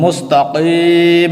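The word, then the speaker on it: مستقيم: সময় বলবো কি কিন্তু যখন এখানে আমরা উচ্চারণ করব তখন সহি উচ্চারণ হলো এই মিম সাকিন হয়ে যাবে যেহেতু এটি ওকফের স্থান এখানে আয়াত শেষ হয়ে গেছে তাই ওফের সময় প্রত্যেক অক্ষর শেষের অক্ষরটি সাকিন হয়ে যায় তো মুস্তাকিম হবে সিরাতিম তান নুন জবর তান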